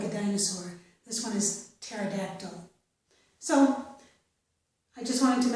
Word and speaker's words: pterodactyl: In these words, we do not pronounce the P, so we start this word as if it began with T sound, okay?